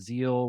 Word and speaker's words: Tzeel: diabetes Insider man of zeal with a silent te on Instagram and Tik